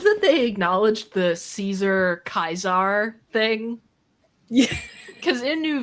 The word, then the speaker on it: Caesar: I love that they acknowledged the Caesar Kaiser thing. Yeah. Because in New Vegas, they refer to Caesar, the leader of the Legion, as Kaiser, but everyone calls him Caesar's Legion.